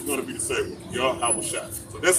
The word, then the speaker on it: Yahawashi: Yahweh Shai. So that's how you pronounce it. Yahweh Shai.